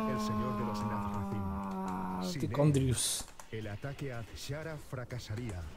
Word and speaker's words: Tichondrius: Es verdad, se me había olvidado que la C y la H la pronuncian como K aquí en este juego.